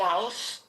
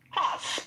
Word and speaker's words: Haus: I got a new coffee by Coffee House. Coffee House. I don't know how to say it, but it's HAUS. Are you? Hoss, baby, Hoss.